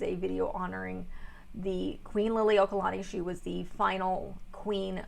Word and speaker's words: Liliuokalani: another video honoring queen liliuokalani and yes i am pronouncing that correctly i grew up in hawaii so yes this is a video honoring the queen lily okalani she was the final